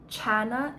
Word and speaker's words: Chana: The other pronunciation is Hannah, but that's the Hebrew spelling. I'm talking about Chana in this case, which